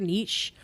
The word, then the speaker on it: niche: Or all those people who are listening on those very weird niche podcast apps, leave us reviews there too.